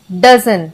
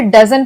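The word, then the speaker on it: dozen: ओ वाले जैसे हो गए सम डजन। तो हम इसे डजन पढ़ते हैं।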